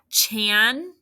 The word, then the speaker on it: channel: Say it, channel. Please don't change the channel. I am watching the show. Chan-null.